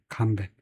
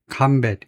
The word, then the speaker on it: combat: 명사 동사일 때 액센트 위치까지. 근데 오늘 갑자기 좀 늦다. combat 또는 combat 이렇게 되는데 명사 동사는 모두 매우 자주 쓰인다. 명사일 때는 combat 앞에다 액센트를 둔다.